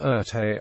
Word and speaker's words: Erté: and designer known by the pseudonym arte from the French pronunciation of his initials he was a diversity